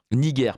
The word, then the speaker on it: Niger: Niger, pardon. Niger, parce qu'on prononce à la latine, c'était un G dur.